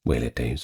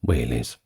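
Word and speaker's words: velites: are going to look it up but is pronounced wh days or singular whes these were the light infantry skirmishers typically the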